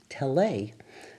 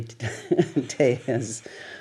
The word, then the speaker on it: Tellez: And I thought, because I studied French in high school, that it must be pronounced Tele. That's... So I called the station, I think it was ABC, asking for Mr. Tele. And finally, somebody corrected me, and I got to Rudy Tellez, whose son, Stephen, became